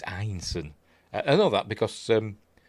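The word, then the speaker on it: Ineson: And it's Einson. I've heard people pronounce his surname as Innocent. Don't know why they pronounce it like that. It's Einson.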